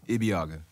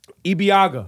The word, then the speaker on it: Ibeagha: how do you say your last name EB Agha EB Agha yeah okay and parks we could say that's